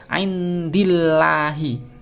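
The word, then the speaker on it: عند الله: membacanya harus meringis ya tidak boleh dibaca tebal and you Allah itu salah harus baca dibacanya tipis andillahi Bismillahi min indilain satu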